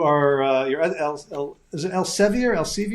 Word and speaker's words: Elsevier: I know you you are uh you're is it Elsevir? Else, how do you say El Elsir? Elsir.